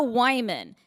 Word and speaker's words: Wyman: They brought me up saying, our first comedian's name is Wyman. It rhymes with hymen, and she's broke.